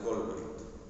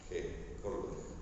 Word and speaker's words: Kohlberg: se le dice etapas de desarrollo moral de Colbert, ¿sí? Si después lo quieren buscar, se escribe K-O-H-L-B de burro, E-R-G de gato, Colbert, ¿sí? Entonces es K-O-L-H, ¿sí? B de burro, U-E-R-G, Colbert, ¿sí?